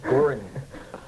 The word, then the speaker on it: Goring: So, well, you know, you never mispronounce an Islanders, you know, like Butch Gorky. Is that his name? Butch Gorky? Goring.